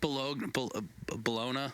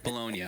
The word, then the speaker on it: Bologna: He was born in is it pronounced Bologna? I don't know how to pronounce. Yeah. Bologna. Okay. Yeah. Not Bologna.